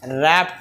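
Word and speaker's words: wrap: इसका सही आंसर होगा रैप takes रैप takes रैप takes का हाला के स्पेलिंग रंग है इसका डब्ल्यू आर ए पी रैप takes इसलिए बच्चे हो सकता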